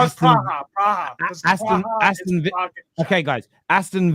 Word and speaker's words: Praha: I don't even know how to pronounce the second name, but Sparta Praha. Is it Praha? Yeah, I can't read that. Yeah. That my dyslexia. No, it's Praha.